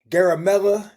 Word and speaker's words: Garamella: and I'm here with my boy, aka the fake Favre, aka Garamella.